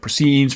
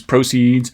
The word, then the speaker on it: proceeds: But the verb versions of these words have stress on the second syllable, and the noun versions of these words, the nominal versions, have stress on the first syllable, so on and so forth.